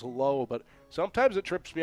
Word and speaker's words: Lau: His pronunciation is low, but sometimes it trips